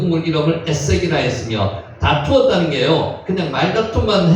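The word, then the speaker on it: 에섹: 에색은, 아사크는 다툼이라는 뜻입니다. 다툼. 제 우물의 이름을 다툼이라는 우물 이름을 썼다면 에색, 실제로 발음은 에세크입니다.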